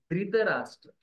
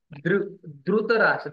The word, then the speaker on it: धृतराष्ट्र: धृतराष्ट्र उवाच So some people they say Dhritarashtra because North people they say Dhritarashtra. Maharashtrian people they will say Dhrutarashtra. They will say Dhru. They will say. Actual pronunciation is Dhru, not Ru, not Ri.